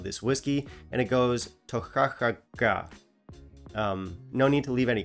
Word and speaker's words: Toiteach A Dhà: write on the bottle how you're supposed to pronounce the name of this whiskey, and it goes Toiteach A Dhà.